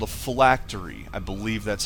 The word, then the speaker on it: phylactery: Now, as I was saying, in Dungeons and Dragons, the Lich would have an item called a phylactery. I believe that's how it's pronounced, although you've seen that my pronunciation is suspect on words that I've only read.